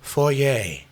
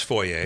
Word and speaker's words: foyer: I I know it's wrong. It's a foyer French. It's foyer, but it sounds that way.